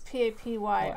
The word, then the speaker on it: Papyrus: Is it like papyrus, like the paper? Yes. Papyrus paper? I So think that's what it is. it's Papyrus. R-U-S, yeah. So how did you say it? Papyrus.